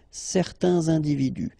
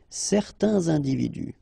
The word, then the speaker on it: certains individus: Individu, plural, starting with a vowel, you make the liaison, certains individus. Certains individus.